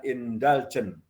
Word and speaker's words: indulgent: contohnya yang kedua adalah pola permisif indulgent atau indolgen tulisannya Indon bacanya indaljen dimana orang tua terlibat